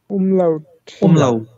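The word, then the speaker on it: Umlaut: ওই নুক্তার মত এগুলা এগুলাকে কি বলে উমলাউ প্রোনাউন্সিয়েশন করেন আমার সাথে এগুলাকে কি বলে উমলাউমলাউ হ্যাঁ আচ্ছা আমরা ওখানে কি দেখেছিলাম এই নরমাল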